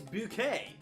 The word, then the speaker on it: Bucket: lady who says that her last name is bouquet however it is spelled bucket it's not a typo